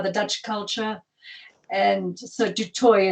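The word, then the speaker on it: du Toit: using dutch instead of du toi so um they just got observed absorbed by the dutch culture and so de toy is how it's pronounced in south africa well it's just like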